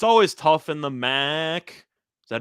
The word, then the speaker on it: MAC: Uh, it's always tough in the MAC. Is that how you pronounce that? The MAC?